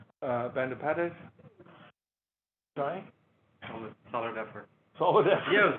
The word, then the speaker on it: Bandopadhyay: Research, and I'm delighted today to host Saptarishi Bandopadhyay. Solid effort. Solid effort. Yeah, it was good. No, it was good. Yeah. What's the correct pronunciation? Bandopadhyay. Bandopadhyay.